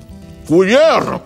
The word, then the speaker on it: cuillère: Cuillère? Très bien. Très bien. Não, tô brincando, não é exatamente assim. Vamos aprender tudo direitinho. Então, cuillère. Lembra o primeiro cu, é cu, cu, cu, com biquinho, faz a